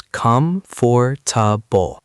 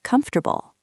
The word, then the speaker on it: comfortable: I once heard someone read comfortable as come for and they said every syllable very clearly. That happens a lot, but most native speakers pronounce it more like comfortable.